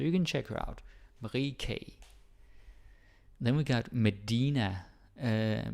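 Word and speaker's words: Marie Key: okay that nister okay Marie K yeah I have to remember it's pronounced K it's a little bit strange but it is what it is Marie K she uh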